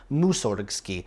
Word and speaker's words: Mussorgsky: based wordplay I mean following exactly correct Russian pronunciation rules you could still say it as musorgsky no one really says that anymore you put the emphasis on the wrong syllable in any event this